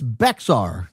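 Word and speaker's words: Bexar: It's Beexar County on this podcast.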